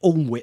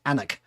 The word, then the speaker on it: Alnwick: And then she wanted me to take her to Alnwick Castle, on just north of Newcastle. It's actually pronounced Alnwick. It's actually spelt Alnwick, but in the UK it's pronounced Alnwick.